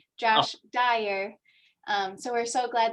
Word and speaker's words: Josh Dyer: for the interesting presentation and also apologized i mispronounced your last name at the beginning so just wanted to correct josh dyer um so we're so glad that you could